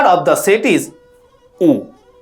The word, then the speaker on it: ᱩ: The first letter of the set is U. This letter is pronounced U in Santali.